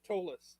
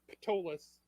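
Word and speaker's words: Ptolus: heavy um this is tolas sitting by the spire it's not patolous it's the p is silent it's it's like pterodactyl um anyway this is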